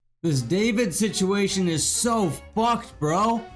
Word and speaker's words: D4VD: So David is a singer. He's a 20-year-old singer, to be more precise. His name is spelled D4VD.